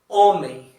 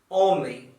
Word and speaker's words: homem: In Portuguese, we don't pronounce this letter, so it's quite neutral. For example, here it's the Portuguese word for human. We say humano, humano. It's like you don't pronounce it, so it's like you start pronouncing from here.